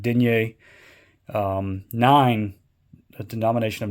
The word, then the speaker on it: denier: French nine denier um some people are are pronouncing it daers over here in the States but I think the actual I'm probably not saying exactly right but denier um nine a denomination